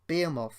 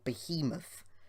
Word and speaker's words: Behemoth: Behemoth in action, and Behemoth, or Behemoth, depending how you wish to pronounce it, they're both spelt the same way, is just a simply incredible machine to watch.